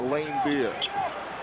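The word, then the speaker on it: Laimbeer: was playing there and I asked him cuz you know how pronounced his name he said it's Lane beer so if it's good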